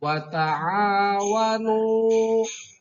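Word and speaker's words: وَتَعَاوَنُوا: Dalam kata wa ta'awanu di sini ada alif mati setelah ain, ada alif mati, sebelumnya ada harkat patah, maka dibacanya panjang 2 harkat disebut dengan mad tabi'i.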